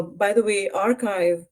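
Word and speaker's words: arXiv: U by the way archive which is spelled ax I is a great way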